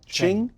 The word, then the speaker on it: Qing: I'm sure I'm mispronouncing that, it's spelled Q-i-n-g, Qing? Dan Blumenthal: Qing. Peter Robinson: Qing. Yeah. Peter Robinson: All right, Ching.